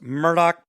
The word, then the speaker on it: Murdaugh: just getting rolling it's murdoch podcast m-u-r-d-a-u-g-h even though it's pronounced murdoch merlot podcast we're gonna